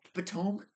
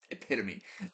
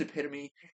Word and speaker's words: epitome: He was on a date with this girl, and he tried to use the word epitome, but he pronounced it epitome, which I don't know how you get that.